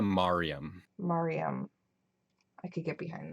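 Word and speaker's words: Maryam: How I pronounce it is Kanaya Mariam.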